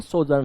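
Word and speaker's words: sojourn: इसका जो प्रोनाउंस है ना सोजर्न होता है, सोजर्न हो मतलब थोड़ी सी देर के लिए रुकना।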